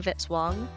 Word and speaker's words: Vitzwong: Music by Kevin Vitzwong rhymes with hit song.